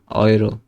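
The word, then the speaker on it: Euro: তারপরে ইউ বা এ umlaut you থাকলে অয়ের মতো উচ্চারণ হয়। যেমন ইংরেজিতে বয় বা টয়, সেরকম অয়, ঠিক আছে? তো একটা হয়তে, এই যে হয়তে অয় কিন্তু আসছে। তারপরে নয়, তারপরে অয়রো, ঠিক আছে? অয়রো, ইউরো না কিন্তু এটা অয়রো।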